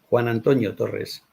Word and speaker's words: Juan Antonio Torres: Pronuncia tu nombre. Que lo diga mi nombre. Juan Antonio Torres.